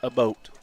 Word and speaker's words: Abbott: No, it's not Abbott. Oh, okay. It's not Abbott. Sorry. It's pronounced a boat.